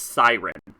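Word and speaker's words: Sirene: It's pronounced Siren.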